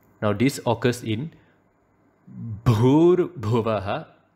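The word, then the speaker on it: भुवः: So it should not be Bhur Bhuvaha. It should be Bhur Bhuvaha. Bhargo and not Bhargo. Dhimahi, not Dhimahi. Dhiyo, not Dhiyo.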